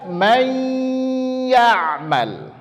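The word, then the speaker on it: من يعمل: Tadi meleburkan huruf yang pertama ke huruf yang kedua. Maka dibaca may ya'mal.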